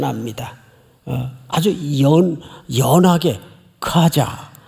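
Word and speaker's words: חזה: 하자. 예, 이게 봤다는 뜻이에요. 하자. 그런데 원래 히브리 정통 발음대로 하려면 그 앞에다가 들릴 듯 말 듯 하자. 이래 이게 정통 발음이에요. 하자.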